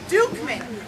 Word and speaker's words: Dukeman: The good captain here likes to call himself Dukeman, but it's spelled Duckman. It's German. There's a little umlaut over the U and...